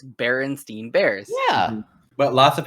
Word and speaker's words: Berenstain Bears: My wife says it Bernstein Bears. Bernstein Bears. Yeah. Nuh-uh. Nope. It's Berenstain Bears.